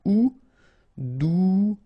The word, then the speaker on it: douloureux: Remember, final X not pronounced, so you get this OU together. Ou, douloureux. Douloureux.